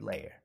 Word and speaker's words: layer: sounds good to me how many syllables do you hear in the word layer lay your that's right two syllables say all the sounds you hear in the word layer repeat after me uh